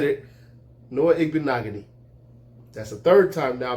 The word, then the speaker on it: Igbinoghene: We have at the 30th pick, cornerback Noah Igbinoghene. All right? Noah Igbinoghene. All right? I said it, okay? I said it. Noah Igbinoghene.